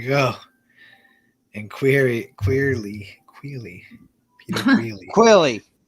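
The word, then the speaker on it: Queally: Quilly. Queerly, that's how you say it.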